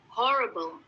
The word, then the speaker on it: horrible: Next, kita ada kata horrible. Horrible. Horrible. R-nya dibacanya hampir hilang, tapi masih ada.